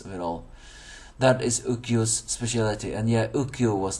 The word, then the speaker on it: Ukyo: That is Ukyo's specialty. And yeah, Ukyo was the man on the council. I said his name wrong if I said Yo.